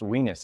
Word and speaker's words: oenos: I think it's pronounced Venus. It's a Greek word. Doesn't sound great, but OENOS. I like it. Venus, like wine.